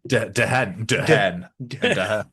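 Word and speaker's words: Dehn: So some of them, they sound a bit like real names, but you just got to pronounce them a little bit wrong. Because mine be Dean, basically. D-E-H-N. Yeah. Dehen.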